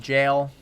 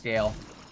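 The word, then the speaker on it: Gael: back into the flow it is Gail okay good tired of tired of things being pronounced wrong for me just because come on jail come on who made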